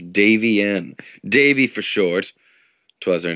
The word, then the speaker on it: Davienne: And a lot of people have trouble pronouncing that name, but that's all right. It's Davienne.